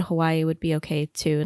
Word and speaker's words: Hawaiʻi: to be called and in my real life I say Hawaii but I also say Hawaii sometimes and so I I realized oh man I've been kind of saying it wrong this whole time so